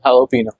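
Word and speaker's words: jalapeño: ये है ना हां there this thing call हेलो पीनो जेलो पीनो जेलो पीनो या बट जे है ना हां बट भाई वो प्रोनाउंस नहीं होता है वो हेलो पिनो की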